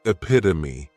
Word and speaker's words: epitome: Next is epitome, and this noun has 4 syllables, and the stress is on that second syllable, epitome.